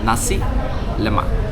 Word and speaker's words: nasi lemak: So you don't stretch the words. You don't say nasi, you don't say lemak. Nasi lemak.